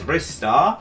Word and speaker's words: Ristar: Yeah, there's Ristar. That's how you pronounce his name.